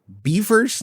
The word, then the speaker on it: Beefers: Beefers. No, not those either. I'm just talking about friends. Okay, Justin. Sorry, not beers. I Beefers like rhymes with Kefir.